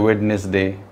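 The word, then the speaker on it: Wednesday: वेडनेसडे, कुछ लोग कहते हैं वेडनेसडे, गलत होता है. वेडनेसडे, डी बिल्कुल साइलेंट होता है.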